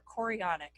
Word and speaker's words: chorionic: so there's something called chronic villus sampling or chorionic I think is how you say it so what this